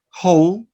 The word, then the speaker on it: whole: The second note says, W is not pronounced in some words. Answer, no answer, answer, to, who, whole, right, wrong. So you don't pronounce, remember, you don't pronounce the sound W.